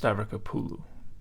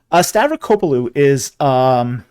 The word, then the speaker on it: Stavrakopoulou: And also, it's pronounced Stavrokopoulou. Okay. Now that would be difficult to pronounce if you didn't know how to do it. Which you didn't. Stavrokopoulou is wow.